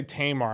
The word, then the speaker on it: Tamar: I don't know what the I'm going to say Tamar. I'm going to put the emphasis on the first syllable.